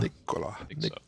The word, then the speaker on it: Nikola: Nikola Tesla.